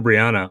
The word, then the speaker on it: Breanna: Thank you, Breanna, for Breanna or Breanna? Oh my goodness, have I been saying it wrong? It's Breanna. I'm on to either or Bree. Most people just call me Bree.